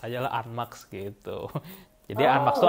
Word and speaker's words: ANMAX: Banyak orang-orang sih yang penyebutannya mereka bilang NMAX kan. Sebenarnya itu dibacanya Unmax.